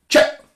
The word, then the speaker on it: chep: Now, so you've got to imagine it's spelled C-H-A and you say it as short as possible. Chep.